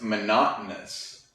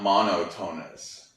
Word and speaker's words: monotonous: monochrome is just one color this one is pronounced monotonous monotonous not monotone us definitely not so monotonous and if something is